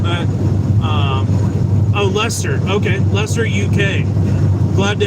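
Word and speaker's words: Leicester: Uh, Andrew says, "Hello from Liester." I don't know how I pronounce it. Sorry if I butchered that. Um, oh, Lester.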